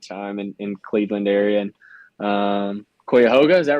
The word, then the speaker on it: Cuyahoga: And Cuyahoga, is that right? Cuyahoga Valley? Cuyahoga. I know. What is it? It's Cuyahoga.